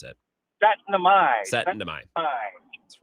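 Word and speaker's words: Syttende mai: I always forget how to pronounce it. Setnamai.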